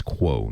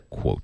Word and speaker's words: quo: I think that's actually it's quo, not quote.